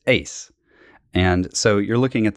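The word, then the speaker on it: εἰς: It's actually epsilon iota sigma, which is ace. And so you're looking at this preposition that's ace, which means into, or, in the idea of going into a room.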